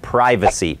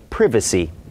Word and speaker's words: privacy: นัน ไป ทา น นี่ คือ privacy แต่ นี้ เป็น การ ออก เสียง แบบ อมริกัน privacy privacy ถ้า เป็น ชาว อังกฤฤษ ก็ คือ privy ใช่ ด เ ก็ ไม่